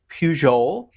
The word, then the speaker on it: Pugh: Pugh. Pugh is the way we in Gnomeville pronounce it.